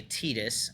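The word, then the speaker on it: Tidus: Well, it's like the show Christopher Titus.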